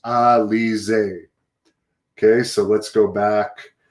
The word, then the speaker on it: Alize: Catherine Dixon is saying Alize's last name is actually pronounced Alize.